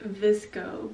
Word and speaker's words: VSCO: Disko the app that everyone pronounces like visco but it looks like the visco has always been